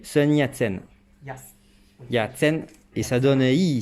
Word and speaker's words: Sun Yat-sen: En français, son surnom se prononce Yatsen. Sun Yat-sen.